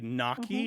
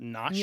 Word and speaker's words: gnocchi: We say gnocchi instead of gnocchi, Gnocchi. right? Gnocchi. Yeah, most Americans don't do the gna, but chiaroscuro is another